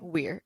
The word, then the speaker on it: Weir: Is that how you say his name? Okay. That's how I've been saying his name. Weir.